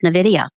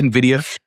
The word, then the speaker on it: Nvidia: time frames not just Nvidia although I feel like we need to have some like commonality how to pronounce uh I say Nvidia a lot of people say Nvidia I think either way let's go to